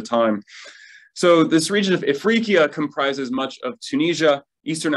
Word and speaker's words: Ifriqiya: Tunis, which in the Middle Ages was called Ifriqiya. I think that was the word Smitty stumbled on when pronouncing my book name, and that's my fault.